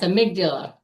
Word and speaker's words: amygdala: These stressful moments come from our I don't know how how to say it, but amigdula. Yes, amygdala.